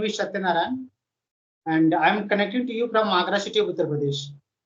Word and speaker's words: Satyanarayan: So yes, very good evening, Satyanarayan. Am I pronouncing right?